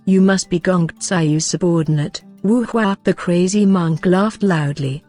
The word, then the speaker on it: Wu Hua: The pronunciation of the name Wu Hua sounds exactly like the words for an oak painting.